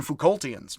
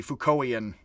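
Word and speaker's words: Foucauldian: technically Foucaultian, to be Foucaultian. Or not. We could use either, honestly, but it is academic practice to actually drop the T in the English. Like the Brits say Sartre, weirdly.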